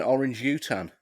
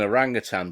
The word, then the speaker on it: orangutan: I'm going to go with an orange utan. Also known nice. What's an orange utan? It's an orangutan, but that's how I used to pronounce it when I was a kid, when I just read it.